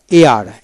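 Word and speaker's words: heir: তারপর আসেন EIR, AR, AR, কিন্তু এইচ উচ্চারণ হবে না। Dishonest, dishonest.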